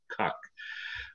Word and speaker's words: Koch: We pronounce it, it's the closest to the German translation, which means to cook, Koch.